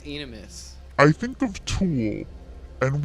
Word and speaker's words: Aenimus: M.I We are also Aenimus.